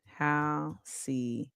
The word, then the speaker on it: halcyon: Is that how you pronounce it? Halcyon? Let's see. Halcyon. Halcyon.